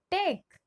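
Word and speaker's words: take: जब किसी शब्द के अंत में ई हो तो हम उस ई का उच्चारण नहीं करते। ठीक है, ये एकदम ही सिंपल है। फॉर एग्जाम्पल टी ए के ई, टेक। यहाँ पे हमने अंत वाले ई का उच्चारण नहीं किया, वो साइलेंट होता है।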